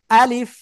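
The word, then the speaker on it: ألف: এইযে শেষে একটু বাতাস বের হতে হবে কিন্তু। না হলে হবে না। আলিফ আলিফ আলিফ।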